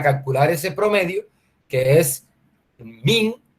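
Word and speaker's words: mean: que se llama la función min bueno así se lee pero se escribe m n min media en la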